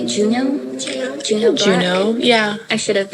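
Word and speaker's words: Juneau Black: Juno Black.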